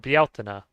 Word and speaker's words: Bealtaine: 15th, so Beltane or Bealtaine. Bealtaine is another way to say it. Bealtaine is It's funny because Bieltana is almost like how you would pronounce it in Spanish, really.